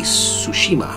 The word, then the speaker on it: Tsushima: of sushima sushi so some people say tsushima I think it's sushima so how they pronounce it in the game I absolutely fell in